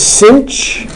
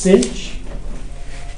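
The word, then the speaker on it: sinh: do two of them the first one is cinch this is called the hyperbolic sign okay it's pronounced cinch it's equal to e to the x minus E to the opposite of X all over 2.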